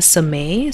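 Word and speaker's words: Somé: his name is malidoma samay so first name m-a-l-i-d-o-m-a last name is s-o-m-e accent on the e and he is a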